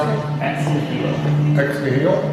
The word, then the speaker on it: Ex Nihilo: How do you pronounce it? Ex Nihilo. Ex Nihilo? Ex Nihilo, yep.